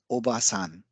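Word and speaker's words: おばあさん: Obasan. Obasan means aunt. Now, if we introduce an additional a sound here after oba, then it gives the pronunciation of obasan. Obasan. So obasan means grandmother.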